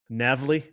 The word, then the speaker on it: NAVLE: So what we did early on, and how do you actually pronounce that? NAVLE.